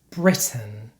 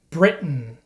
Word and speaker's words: Britain: look at some examples this is not how we pronounce these words in standard American English certain Buton Britain WR Martin Manhattan in American English we pronounce these words like this certain button Britain written Martin Manhattan so for example I'm